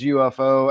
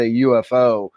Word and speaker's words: UFO: And the guy who coined the phrase UFO actually wanted it be to be pronounced UFO, but nobody agreed with him and just said UFO.